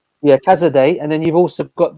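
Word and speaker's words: Casadei: How do you pronounce his name again? Cazadei. Yeah, Cazadei.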